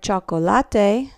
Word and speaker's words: chocolate: it is a sound you see these two letters together and it's never C it's never hard like sometimes we have that in English here for example in the word chocolate spelled just the the same cha it's always cha okay all right the day